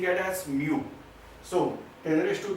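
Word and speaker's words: μ: This is the Greek letter and we are pronouncing it as mu.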